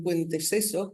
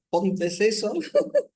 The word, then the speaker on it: Ponteceso: Entonces aquí tenemos a los balsas de Galicia, decíamos de San Félix de Ayones en Puenteceso, ¿cómo se dice? Perdón. Ponteceso, en A Coruña, y a María Monteagudo, su abuela materna, de San Juan de Lubre en Bergondo.